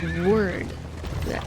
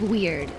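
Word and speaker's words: wyrd: desperate for delicacies and weird ingredients. How do you pronounce W-Y-R-D? Is it weird? Or word? Weird.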